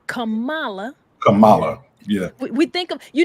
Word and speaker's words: Kamala: so it's comma and how I want people to remember is it's comma comma comma comma you remember that song